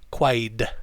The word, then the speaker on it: quite: article after it also the pronunciation of quite the t the t changes to d quite quite like wide like a wide road and then say quite